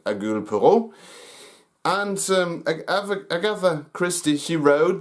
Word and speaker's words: Hercule Poirot: do not know that the French speakers, they cannot pronounce the H, so they call him Hercules Poirot.